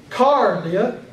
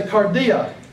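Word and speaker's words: καρδία: Look at cardia. You don't say cardia. You don't say cardia. You say cardia.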